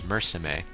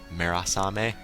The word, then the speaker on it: Murasame: His name is spelled M-U-R-A-S-A-M-E, so Murasame, depending on how you want to pronounce it.